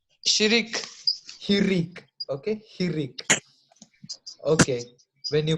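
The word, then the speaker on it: hiriq: It is pronounced Shinika. as I, but what is it called? Shirik. Hirik.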